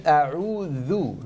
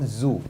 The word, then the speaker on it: a'udhu: So, and then a'udhu, not zu, the.